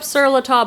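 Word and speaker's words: Sur La Table: I pick up Siratub. I've sold napkins, aprons, tablecloths. It's a very expensive store. It says sir table, but they pronounce it tub. It's French.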